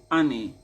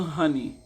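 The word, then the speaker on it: אני: The king says ani. The king says it's not honey. Apparently the h is supposed to be silent.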